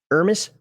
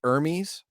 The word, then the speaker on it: Hermes: Seeing as how these couriers work, I think the name is pronounced Hermes, as in Hermes. Because Hermes, yeah. Yeah. I thought about that. Well, then just put the H on there. You're not French.